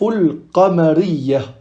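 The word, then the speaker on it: القمرية: Donc en arabe, les lettres lunaires se disent al-huruf al-qamariyah. Al-qamariyah. Ici, on voit bien que on prononce le lam al-qamariyah.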